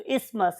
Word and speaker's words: isthmus: हूं मैं कि आपने थ को भी याद रखें ताकि आपको TH याद रहे, अदरवाइज इट इज इस्थमस। हम उसमें बहुत ज्यादा जोर थे पे नहीं लगा रहे होते, तो इस्थमस इज a true pronunciation. So this very isthmus is